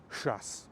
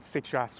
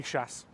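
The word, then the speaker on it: сейчас: Let's start with a classic shas. You've probably heard the word sichas, which means now. But guess what? Nobody says sichas. If you're Russian, you just say shass.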